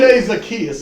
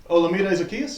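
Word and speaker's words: Olamide Zaccheaus: Olamide Zacchaeus is his name.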